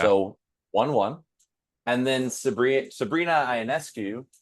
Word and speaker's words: Ionescu: And then Sabrina Ionescu, right? Say it right? I want to say it's Ionescu.